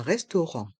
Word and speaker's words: restaurant: Un restaurant. Un restaurant. Les voyelles A et U se prononcent O.